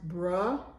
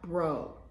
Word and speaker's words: bro: of pronunciation is because the first part is pronounced bruh and not bro.